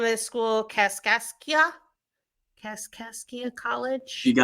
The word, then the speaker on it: Cascia: Casasia Cascia College.